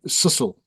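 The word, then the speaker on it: Cecil: Um, you were you were involved in the in the contact when Lord Richard Ceil or that Sisle is the correct way to pronounce it was killed.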